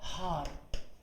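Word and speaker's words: Haar: तो अगर ये पढ़ना हो मुझे तो ये होगा हार। एच को है पढ़ेंगे, डबल ए आर का हार हो गया। ओके, अब एच अगर बीच में आ गया तो साइलेंट होगा, पढ़ेंगे ही नहीं उसको।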